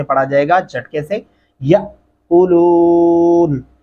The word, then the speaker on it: يَأْكُلُونَ: جائے گا جھٹکے سے، یَأْكُلُونَ۔ بہت سارے لوگوں کو اس کا پتہ ہی نہیں ہوتا کہ یا کلون پڑھ جاتے ہیں، جو کہ غلط ہوگا، درست تلفظ نہیں ہوگا، پورے کا پورا ترجمہ